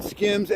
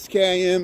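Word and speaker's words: Skims: Oh, is it called Skiims? Okay, it's called Skiims. Skim. Okay, I was saying it wrong.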